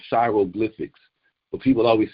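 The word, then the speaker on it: Shairoglyphics: And it's really just Shy, S-H-A-I, and then Roglyphics, you know what I mean? Like hieroglyphics, because Shy is Egyptian.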